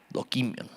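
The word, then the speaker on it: δοκίμιον: Con acento en la primera I y K, dokimión, ¿ok?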